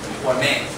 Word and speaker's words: torment: If it is a noun, we say torment. But on the second syllable, torment.